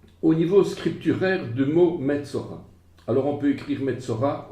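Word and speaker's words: מצורע: un vav, Metzo, et c'est le vav qui fait le O. Eh bien, dans ce cas, il faut alors ajouter la lettre vav pour prononcer O. Metzora, cette remarque nous rappelle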